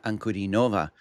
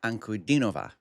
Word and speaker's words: Ankudinova: And as you can see guys, we're going to do some more Danna Ankur Nova. Oh, my bad. Danna Ankurova.